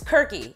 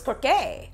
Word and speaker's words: Kirke: I practice how to say this, you guys, Kirky, but it's not, it's Kirke, Kirke Dole by Tenziana Terenzi.